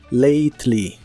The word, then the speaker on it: lately: lately que significa últimamente la a se pronuncia como e y la e no se pronuncia lately lly y usaremos las